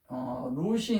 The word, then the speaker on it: 룻: 룻이 있는데 이게 우리가 이제 룻기 그러잖아요. 룻도 뭐냐면 이 영의 여기 앞부분이잖아요. 이게 루거든요. 룻 이렇게 발음합니다.